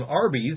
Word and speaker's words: Arby's: Instead, they chose the name Arby's, a phonetic pronunciation of the letters R and B, short for Raffle Brothers.